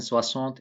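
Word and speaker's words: soixante: this is Susan says enough the X in swazant is pronounced like an s also note that number 70 in French is it is composed with the two words swazon and this 60 and 10.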